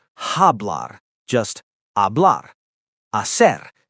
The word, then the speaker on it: hablar: But in Spanish, the H is completely silent. Always, no exceptions. Hola, not hola, just hola. The H is invisible. Hola, hablar, hacer, hambre. Hablar, to speak, not hablar, just hablar.